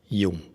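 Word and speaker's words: Dzung: It pronounces like a Y, Jung.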